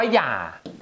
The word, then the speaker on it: อย่า: ว่า ออก เสียง อะไร หนู ต้อง รู้ ว่า มัน คือ เสียง ยอ นี่ คือ เสียง ยอ